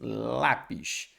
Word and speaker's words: lápis: Sim, lápis. Então a sílaba tônica é o lá.